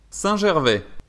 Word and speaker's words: Saint-Gervais: over here near Chamonix, there are many pump tracks, and this one is in this town, which is pronounced Saint-Gervais.